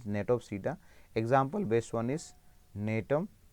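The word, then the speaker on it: Gnetopsida: G is silent, let us say over here, Natopsida.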